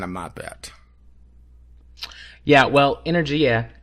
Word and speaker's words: energia: Yeah, well, ENERGIA is, and that is how you pronounce it, is Italian. It's the Italian word for energy.